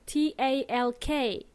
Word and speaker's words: talk: in this world talk t ALK so we spell it with an L but we don't pronounce the L so we say talk